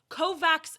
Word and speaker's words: Kovacs: And also, Kovacs is how it's pronounced in some regions, so, like, fuck off.